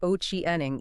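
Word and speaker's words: Ochieng: It's called Oiang AI. That's I A N then O C H I E N G, right? Pronounced Oiening.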